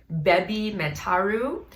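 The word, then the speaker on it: BABYMETAL: Baby metal in Japanese is pronounced Bebi Metaru, and heavy metal is pronounced Hebi Metaru.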